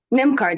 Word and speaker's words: NymCard: NymCard, is that correct pronunciation, Tina? You correct me before I embarrass myself. NymCard, yes.